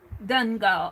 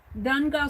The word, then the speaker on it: Donegal: so much my best friends are from from dungale how am i pronounced mispronouncing that dungall d-o-n-g-a-l oh cool you've gone to donegal several times then wow that's neat see i'm